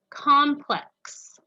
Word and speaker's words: complex: two word two is complex complex is your apartment complex near the shore complex now complex in this sense is not complex hear that they sound different but they're spelled the same complex in this sentence